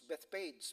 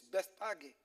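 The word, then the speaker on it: Bethphage: Jerusalem and came to Bethpage before I thought it's Bethpage but when I was in Israel the way they pronounce it it's best Aggie all right on the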